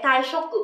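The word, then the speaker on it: 退職: Vậy thì ở đây từ số 24 mình sẽ đọc là so desu ne, taishoku có nghĩa là nghỉ việc.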